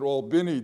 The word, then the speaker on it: Albany: to Selma when we got to Albany they pronounced it Albany down there I remember and it's in southwest